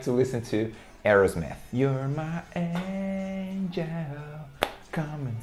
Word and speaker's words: Aerosmith: A galera aqui no Brasil chama de Aerosmith, Aerosmith, alguma coisa assim do tipo. Mas em inglês você vai pronunciar Aerosmith. Aerosmith, ok? Aerosmith. E o som do TH no final, né?